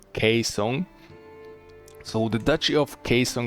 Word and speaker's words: Gaeseong: So actually pronounced G in Korean as K most of the time, not all the time. So this is not Gaeseong but Gaeseong.